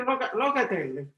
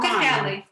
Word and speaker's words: Locatelli: It's a locatelli. What- Pecorino Romano. Rocatelli.